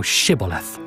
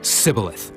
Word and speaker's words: shibboleth: said they unto him say now shibboleth and he said sibileth for he could not frame to pronounce it right then they took him